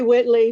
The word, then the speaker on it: Whiteley: I go by Whitley because that's how most people pronounce it here in the South.